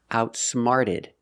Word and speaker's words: outsmarted: Outsmart in the past, outsmarted. The T changes to a fast D sound.